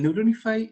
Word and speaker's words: Neuronify: programa que se llama se escribe neurona y al final y se pronuncian bueno él neuron ifai es como es un